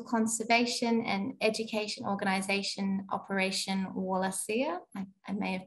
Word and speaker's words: Wallacea: worked with International conservation and education organization operation wallacea I may have pronounced it wrong sorry um that was right